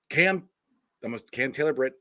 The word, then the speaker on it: Cam Taylor-Britt: But like I said, this is Cam Taylor-Britt.